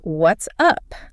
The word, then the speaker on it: what's up: Native speakers rarely enunciate both words cleanly. Almost never. It blends together into something that sounds more like what's you pee. You hit that second syllable. Oh, what's UP?